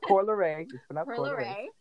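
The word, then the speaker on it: Coi Leray: like how Corey Lorray, sorry, I'm more like pronouncing her name wrong, but it's pronounced Corey Lorray.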